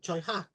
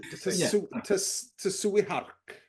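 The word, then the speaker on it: Tsui Hark: yeah as was um chiak I believe oh yes that's right yeah yeah so um yeah sorry I pronounced that wrong tuak I mean toui hark is toui har yes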